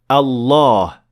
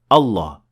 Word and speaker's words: Allah: We say Allah. We don't say Allah. There is definitely an alif here with a natural mad of 2 harakat.